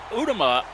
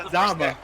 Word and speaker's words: Adama: But it's a carry off to Jack, who's able to break the first tackle by Lee Udama. I know I just mispronounced the name. yeah, that's Adama.